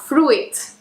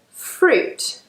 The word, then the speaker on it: fruit: It's not fruit. There are not two syllables there. We actually pronounce this word fruit.